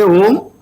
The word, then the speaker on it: Om: When you say Om, there are 3 syllables in it. A, which starts from your navel. U, which is given through your throat, and where your lips will merge.